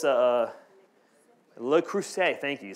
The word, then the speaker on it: Le Creuset: It's a Le Creuset.